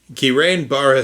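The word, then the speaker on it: Guillain-Barré: But from the information directly from the website, the notion that giran bar syndrome, I am getting fond of saying it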